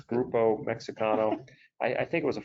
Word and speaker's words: Grupo Mexicano: It's Grupo Mexicano.